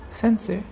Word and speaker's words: St. Cyr: which is called sensei sensei is spelled s-t-c-y-r some person says sensei or whatever but it's called sensei and it's like the